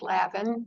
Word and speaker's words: Lavin: So, anyhow, can you share what it was like growing up in the Levin household and at what point you decided to join the family business? Yeah, my maiden name is pronounced Lavin.